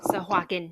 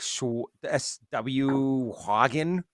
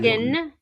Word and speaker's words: Sahuagin: Sahuagin. Of course, it is Yeah. one of those words that you're kind of like, shouldn't it be like, if it's spelled phonetically, like SW Hagen kind of a thing?